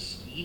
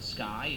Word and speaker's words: Ski: Her name's Ski, not Sky. It's weird. It's pronounced. It's spelled S-K-I.